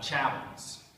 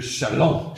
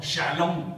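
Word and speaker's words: Châlons: I'm from we'd call this the battle of chavins uh Mr Schaefer how would a true Francophile pronounce this B shalom shalom shalom very important so this is the Battle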